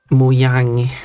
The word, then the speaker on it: Mojang: Ku in Bandicum uh from the UK and Muyang I would assume it would be because it